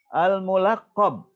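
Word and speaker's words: الملقب: Al-mulaqab, ini dari laqab. Laqab itu panggilan, julukan. Nah, jadi bacanya al-mulaqab.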